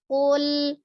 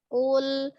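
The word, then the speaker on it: قل: Jadi qul tidak dipantulkan, kemudian qafnya dijaharkan ya, tidak ada alhamesnya, bukan kaf. Qul a'udzu Qul a'udzu. Nah, ya lunak saja ya, tidak ada yang siddahnya ini dengan lamnya.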